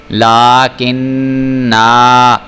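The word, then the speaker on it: لَكِنَّا: ہجے کر رہا ہوں، لام کھڑا زبر لا، کاف زیر نون کن، نون زبر الف نا، لاکن نا۔ اب دیکھیں میں نے یہاں پہ وقف کیا ہے تو میں اس کو لاکن نا، کیونکہ میں نے نون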